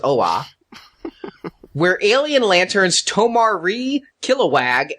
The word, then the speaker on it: Oa: How you get two syllables out of two letters, I don't know, but it's OA.